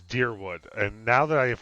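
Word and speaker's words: Dyrwood: this morning um that i have been pronouncing that wrong and it is deer wood and now that i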